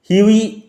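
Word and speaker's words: Hughie: the story follows হিউই এরস্কিন, উচ্চারণ লক্ষ্য করো, হিউগি হবে না, হাগি হবে না, হিউই, GH will remain silent, GH silent থাকবে, হিউই এরস্কিন, এ হ্যান্ডসাম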